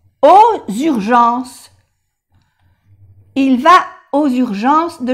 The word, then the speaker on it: aux urgences: Y la X suena como S. Aux urgences.